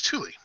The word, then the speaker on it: Thule: So just real quick, Karen in the chat wants to thank you for pronouncing Thule right.